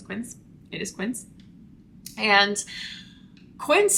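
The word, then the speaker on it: Quince: B six and then Quint Quint I always say it wrong in my videos I say ke I do not know why but apparently it's Quin so thank you for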